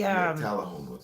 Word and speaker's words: Tullahoma: That's how you pronounce it? Tullahoma? It's out by the... Tullahoma. Yes, it is out by the Cabbage Patch place that they started.